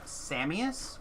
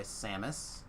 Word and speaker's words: Samus: i know that people people will pronounce my name samias which is fine people can say my name however they want i'll answer to anything but i normally go by samus i always tell the